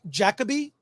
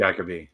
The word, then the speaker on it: Jacobi: I, Claudius on Blu-ray, starring, I'm positive I'm pronouncing this wrong. Is it Derek Jacobi or Derek Jacobi? I will be corrected. I think it's Jacobi. I'm pretty sure it's Jacobi.